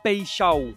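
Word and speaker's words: Paixão: de Marseille, monsieur Igor Pecho. Et oui, je le prononce bien car j'ai regardé la conférence de presse.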